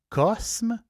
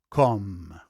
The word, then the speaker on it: Cosme: Cosme c s m je prononce Cosme mais en réalité ça prononce com le château com C o M e